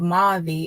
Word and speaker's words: Mavi: hold of Mavi, and that's how you pronounce her name, the paramedic. Is Mavi. So I was saying maybe it's Mavi. So I forgot who told me that it's probably pronounced Mavi, and exactly that's what it's pronounced.